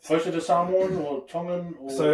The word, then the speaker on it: Tonga: I think we're the only language in Polynesian, from Polynesian languages that have a soft T, where everyone else is more like a D. Yeah. Like Tonga.